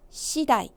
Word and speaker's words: 次第: 발음이요. 시다이.